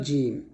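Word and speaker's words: جيم: এরকম তারপর হল জিম জিমটা আপনার যখন উচ্চারণ করবেন জিহবার মধ্যখান তার উপর উপরে তালু সংখ্যা লাগাতে হবে এই জিম উচ্চারণ করার সময় আপনার জিহবাটা যেন কোনভাবে দাঁতের সাথে টাচ না করে এটা একটু সতর্ক থাকবেন তাহলে এটা জিম আর জিম উচ্চারণ করার সময় অবশ্যই একটু টান দিবেন।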